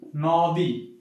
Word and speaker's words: নদী: আছে নদী এখন বলতো এখানে ওকারটা কি জন্য আসলো আমরা ফাস্টে পড়ছিলাম যে অ থাকলে কি হবে ও হবে এখানে কি নদ এখানে কিন্তু আমার ও উচ্চারণ হচ্ছে ঠিক আছে একটু মাথায়